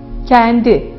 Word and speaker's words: kendi: Yani açık E'den daha kapalı, daha ileride söylenen bir E, kendi. Abartılı bir şekilde söyleyecek olursak önce yanlış söylenişi verelim. Kendi, kendi. Doğrusu kendi, kendi.